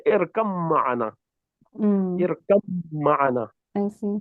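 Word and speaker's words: اركب معنا: So you say irkab ma'ana. Irkab ma'ana. Right? But in the Indian Musaf, you will find this shadda on top of mim. So you don't pronounce the ba, you just say irkam ma'ana.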